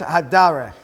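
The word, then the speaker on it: הַדֶּרֶךְ: How do you pronounce that part of this word? Haderech. Okay? Here it's hadarech.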